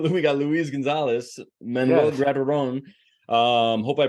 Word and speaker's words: Grateron: Your names, you guys are part of, we got Luis Gonzalez, Manuel Grateron. Hope I pronounced those correctly, with the you did.